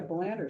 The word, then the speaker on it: Belander: Oh yeah, Belander, sort of like a colander.